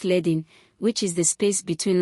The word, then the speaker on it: leading: Spacing includes letter spacing, the space between individual letters, and leading, pronounced ledding, which is the space between lines of text.